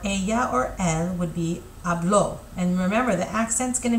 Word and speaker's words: habló: And then usted or ella or él would be habló. And remember, the accent's going to be, there's an accent there, so you're going to add a stress on that syllable. It's not hablo, it's habló.